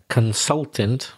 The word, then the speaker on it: consultant: You said that you were a consultant, and your pronunciation of the word consultant wasn't quite right. I think you said the s as a z. So the pronunciation of consultant would be the only thing that really caught my attention.